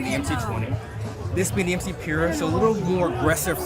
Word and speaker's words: MCPURA: I'm excited because he's going to give us a good first look at the new Mcpura. Am I pronouncing that correctly?